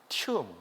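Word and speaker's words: tomb: 오 발음이 우음으로 발음되죠. 그리고 무덤이 역시 오 발음인데 우 발음이 되죠. 튠.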